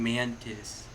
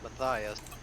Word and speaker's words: Matthias: you go there mantis why are you calling mantis that's his name isn't it no it's matthias is no it's not